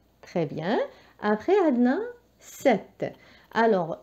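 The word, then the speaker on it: sept: دونك الحرف الساكن اللي نعمله هنا هو لو بي، ولكن لا ينطق، والحرف اللي ينطق هو هذا ت على فان. 7 داكوغ. هذا البي لا ينطق، هو متواجد ولكن ما نطقوش. يعطيني 7.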